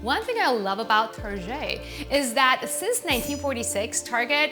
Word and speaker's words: Target: Number 4 on our list is Target, or Target. French pronunciation.